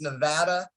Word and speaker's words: Nevada: to correct you on one thing it's actually pronounced nevada uh that's one thing i lived in nevada